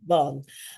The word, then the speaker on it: Vaughan: Vaughn, like Sarah Vaughn. Vaughan, Mhm.